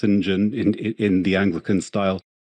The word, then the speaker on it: St John: St John spelled or spelled St John but pronounced s Jen in in the Anglican style my my my